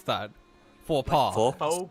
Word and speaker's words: faux pas: How do you pronounce that? Faux pas. Faux Faux Faux pas.